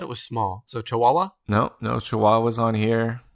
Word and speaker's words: Chihuahua: are yeah sure uh chihuahuas are oh man i'm scrolling 32 on the list you know it's actually pronounced chihuahua chihuahuas are number 32